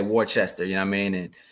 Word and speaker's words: Worcester: It's Worcester. Yes, sir. Like the sauce.